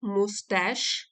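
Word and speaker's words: moustache: आगे आए ही moved about and twisted his मुस्ता श इसको बोलेंगे मुस्ता मूव्ड अबाउट मी इधर उधर घूमे ट्विस्टेड और उन्होंने मरोड़ी अपनी मूछे तो यहां पर आप स्पेलिंग देख ली मुश मूछों को यह बोलते हैं मुश और स्पेलिंग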